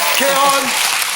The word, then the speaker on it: Kheiron: Non, ça va se prononcer. Kéron, à l'Européen, en tournée dans toute la France.